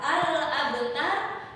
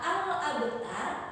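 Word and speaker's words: الأبتر: Kemudian terdapat juga huruf ba yang berharokat sukun. Itu cara membacanya adalah dengan memantulkan secara kecil saja. Pantulan kecil itu di dalam ilmu tajwid disebut dengan qalqalah sugro. Apa namanya nak? Qalqalah sugro. Artinya pantulannya kecil.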